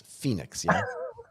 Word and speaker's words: Finix: just a store and i mispronounced it at the beginning because i said phoenix but that's just because i can't read english properly it's phoenix phoenix yes you should have